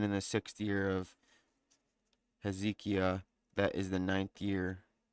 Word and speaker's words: Hezekiah: And it came to pass in the fourth year of King Ezekiel or Hez Hezekiah. Hezekiah. Sorry, I was mispronouncing that.